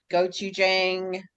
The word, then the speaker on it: gochujang: Gochujang in your baked beans.